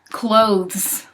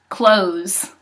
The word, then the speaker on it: clothes: goodness ah this one clothes not close like yet close the door it's clothes those that T in that age are so important they want to be